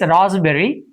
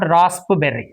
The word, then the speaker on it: raspberry: wrong receipt is right P is silent and it's raspberry it's not raspberry okay raspberry let's do